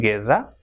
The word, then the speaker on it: guerra: If GU comes together, it will be pronounced as ge. If after U comes E, for example, guerra, and it will be